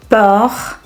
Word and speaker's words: peur: Whereas option B and C, Peur, sœur, these two are open U sounds. That means our mouth is a little more open when we pronounce it.